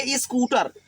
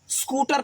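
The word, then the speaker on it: scooter: इस नहीं बोलेंगे, ई स्कूटर। हमारे यहाँ यूपी में बड़ी खराब दशा है बिहार में कि पूरा चढ़ बैठते हैं ई पर, पूरा ई पढ़ देते हैं। उसको हल्का से उच्चारण करेंगे, ठीक है, आधा सा लेकर। स्पोकन, स्कूटर, ऐसा स्कूटर पढ़ेंगे।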